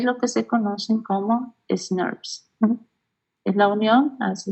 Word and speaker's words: snRNPs: presencia de estas proteínas y su pronunciación, vamos a proponer SNRNPS es demasiado, entonces pues se conocen como SNRPs, que son partículas ribonucleoproteicas